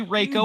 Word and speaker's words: Reiko: Some names have more than one pronunciation, and it's okay. Like, it can be Darius or Darius, and I don't care. It could be Reiko or Raiko.